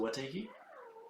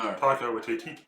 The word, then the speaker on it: Taika Waititi: What's is it Watiki? No. Taika Waititi. I'm sorry. I'm not going to pronounce the name right.